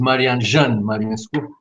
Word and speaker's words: Marian: you for the invitation my name is marian it's very simple like in french it's not so complicated so thank you very